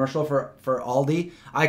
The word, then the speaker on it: Aldi: to say all right I used to say all these and at least I corrected that I call it Aldi not all these you know kind of